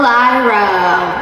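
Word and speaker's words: Iroh: Iro. Oh, Uncle Ro.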